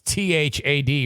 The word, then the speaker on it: Thad: hello to thaad that's t-h-a-d rhymes with fad fad fad fad fads